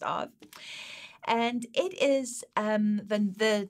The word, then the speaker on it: Av: have to take my word for it it's pronounced of and it is um the word of or